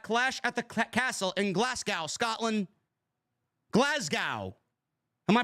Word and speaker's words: Glasgow: at the castle in Glasgow Scotland Glasgow am I pronouncing it right the S is pronounced as a z glasgo glasgo Scotland clash of the